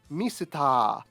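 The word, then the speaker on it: ミスター: starting with this one, misuta, or misuta. This is the katakana pronunciation of the word Mr.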